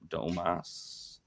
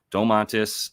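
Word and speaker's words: Domantas: me just pull up domas oh wait that's not how you say his name Dom mantis um what do we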